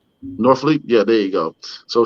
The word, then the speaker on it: Norfleet: How you pronounce that name? Norfleet.